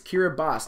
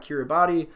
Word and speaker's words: Kiribati: Yes, it's Kiribati, not Kiribati. It is spelled Kiribati, but in the iKiribati language, the TI sound, the TI letters make an S sound because they don't have the letter S.